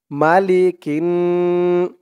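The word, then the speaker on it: مَلِكِ: মালিকিন, calf নুনজের কিন, মালিকিন। নুন আলিফ জবর না, মালিকিন না।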